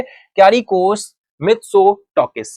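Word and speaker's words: Κυριάκος Μητσοτάκης: सा नेम इस तरह के रहते हैं आपके, क्यारिकोस मित्सोटोकिस, क्यारिकोस मित्सोटोकिस, बिल्कुल सही प्रोनाउंसिएशन है, क्यारिकोस मित्सोटोकिस, लीडर ऑफ द सेंटर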